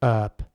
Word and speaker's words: herb: But in American English, it's often pronounced herb without the H sound.